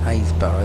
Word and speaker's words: Happisburgh: Haysborough they are, spelt with a double P, Happisburgh.